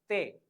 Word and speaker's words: te: The pronunciation of T is te.